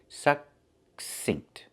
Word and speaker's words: succinct: We see two C's. The first C makes the k sound, like in cake, k, k. And the second C makes the s sound, like in star. The K is a stop K. We don't release it. We don't say k. We say suck, make the K position and stop the air.